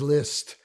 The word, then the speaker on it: Liszt: comes up a lot it's fraud's liszt again the s becomes soft because it's uh in combination with the z which is uh not pronounced and the next one